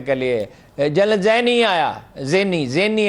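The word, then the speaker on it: Zinni: لیے، جنرل زینی آیا، زینی ہے صحیح تلفظ ہے، وہ آیا.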